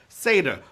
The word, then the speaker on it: seder: your booty oy bae indeed all right it's pronounced like as the half goat man from narnia right seder but it's an important part of passover and